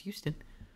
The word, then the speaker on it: Huston: director is also also H us and it's pronounced Houston but I thought Houston has a oh who